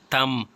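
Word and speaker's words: tomb: कहते हैं टी है तम तम इसमें बी साइलेंट है जब भी नेसल साउंड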